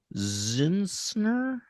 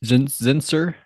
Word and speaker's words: Zinser: Jillian Zinsner, I want to say her name is Zinser. There's no N in there. Well, there is before the S, not after.